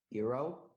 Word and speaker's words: gyros: It's pronounced Eero.